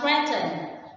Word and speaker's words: threaten: And the last one, threaten. Threaten is a verb and the stretchy on the first one.